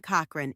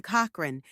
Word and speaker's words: Cochrane: Growing up, she wanted to portray herself as more sophisticated, and she changed her surname to Cochrane with a silent E at the end.